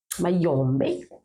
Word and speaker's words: Mayombé: chikang ça vient du Mayombé Mayombé pour bien prononcer ça alors son père avait